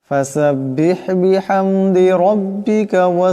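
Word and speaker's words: بحمد: আফজান এমন করে বিহামদিকা এখানে বড় হাওয়াটা গলা থেকে চাপ দিয়ে উচ্চারণ করতে হবে বিহামদি এখানেও বড় হাওয়াটাকে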